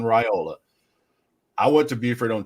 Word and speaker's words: Raiola: million people ask me, it's Dylan Raiola. And I had to ask him, I said, how do you pronounce this? Spell it out to me right here. So Dylan Raiola.